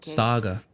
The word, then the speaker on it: Saga: I'll be leading this Saga seems you already know my partner Alex Casey over here pronouncing it Sega like the old console sorry about that ma'am